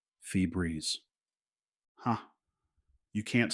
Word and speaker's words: Febreze: Febreeze, like a breeze, a fresh breeze, fee breeze.